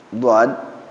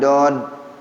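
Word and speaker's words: ض: Kalau di kitab ini az-zikra dod, jadi ujung lidah ditempelin dari sini, seret dijalanin. Dod tebal. Bukan dod tipis. Dod, kalau dod huruf D dikasih O. Dod gitu. Dod tebal nggak tuh? Diserepetin dari sini nih. Ujung lidahnya taruh di sini. Jalanin ke depan. Dod sama tuh.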